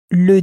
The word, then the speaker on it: le dîner: in French to pronounce it as le dîner, le dîner, sort of has an a sound on the end because it's such a